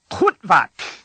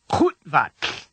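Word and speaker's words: Qu'vatlh: The word begins with the common Klingon sound To make this sound, put the back of your tongue as far back into your mouth as you can. Then force the air up harshly as if you're trying to dislodge a piece of food.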